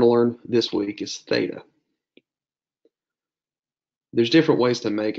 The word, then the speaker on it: theta: And it's pronounced like the TH in those.